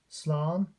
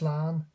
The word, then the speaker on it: Slán: Slán, pronounced Slán, Donegal. Don't really notice the the fada there, the accent mark, but in other dialects, Connacht, Ulster, Connacht and Munster, it's slán, so you get that noise out of the a fada